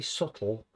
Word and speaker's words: subtle: use this to capture a very subtle with a silent b sense of a frosty